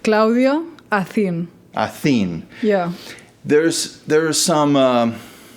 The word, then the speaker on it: Claudia Acin: to say it okay I say it Claudia a aen yeah there's there's some